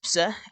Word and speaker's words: psi: It is pronounced psa, as it is in Greek, and Z is once again a Georgian letter.